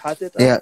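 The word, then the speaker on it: Hatata: Hatita?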